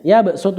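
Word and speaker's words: يبسط: Surah Albaqarah ayat 245 tulisannya yabsutu tetapi yabsutu bacanya yabsutu harus dibaca Sin Terus yang kedua pada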